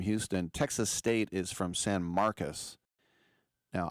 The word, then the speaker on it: San Marcos: Texas State is from San Marcus. Now, I would say San Marcos, but they pronounce it like a U. San Marcus, which is in between